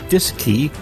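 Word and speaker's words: DSKY: and keypad known as the D s KY pronounced disc II on board both the CM and LM Mission Control Houston also had a disk key to interface with the AGC for remote control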